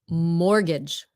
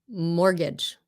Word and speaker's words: mortgage: Mortgage. Mortgage. Mortgage. You don't pronounce the T. Kể như là nó không có đó luôn. Mortgage.